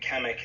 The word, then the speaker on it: Kamek: And also Kamek, if I'm pronouncing his name, that's the wizard Koopa, right, with the glasses? Yeah, Kamek is the name of the wizard.